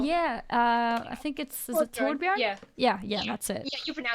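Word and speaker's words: Torbjörn: I think is it Torbjorn? Yeah. Yeah, that's it. Yeah, you pronounce it better than me.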